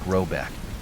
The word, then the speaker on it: Rabuk: The manor house, or hergård, in question is to be called Rabuk, pronounced something like Robeck, though that is not its name.